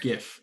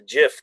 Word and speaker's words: GIF: right a might or Jif how do we pronounce it here I think if we love a hard G in the UK it's great yeah gif yeah a good gift